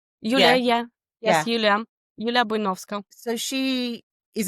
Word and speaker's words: Yulia: So, is it, how do I pronounce her name? Is it Yulia who plays Ellie? Ellie? Yulia, Yeah. yeah. Yeah. Yes, Yulia.